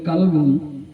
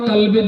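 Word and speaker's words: قلب: আর ওইটা যদি বড় কাফ উচ্চারণ না করে যদি বলেন কালবুন, তাহলে কালবুন মানে কুকুর। কালবুন মানে কুকুর। তো পীর সাহেব বললেন বলো আমি আমার কলবের দিকে মুতাওয়াজ্জা আছি, তার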